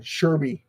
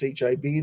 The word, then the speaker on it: SHIB: of the videos is they imp pronounce shib shy uh what was the other one Sherby like where the hell you get Sherby there's no R there's no U there's no y it's like you're adding constants in there like in a vowel an extra vowel here and there like